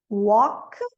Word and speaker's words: walk: E o L, K. Walk, talk, chalk.